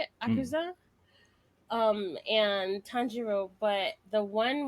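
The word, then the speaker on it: Akaza: That's how you say it, Akuza.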